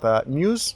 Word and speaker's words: Muse: По-английски правильно Muse, да. Поэтому мы тоже говорим Muse, да. Но мы говорим, да, Muse. Русское произношение неправильно, да.